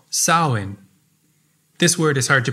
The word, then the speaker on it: Samhain: the new year was a celtic festival called saowin this word is hard to pronounce so i'll say it again saoin this day marked the end of summer and